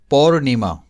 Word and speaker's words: पौर्णिमा: फिर पौर्णिमा, यही राइट है। पौर्णी नहीं आता है, पौर्णिमा ऐसा नहीं आता है, आधा र रहता ही है।